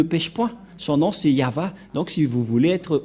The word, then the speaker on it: Yahvah: le nom de de yava et la prononciation de y h V selon les épres x c'est yava et personne ne peut